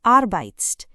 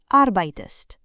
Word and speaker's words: arbeitest: It is not arbeitst, it is arbeitest.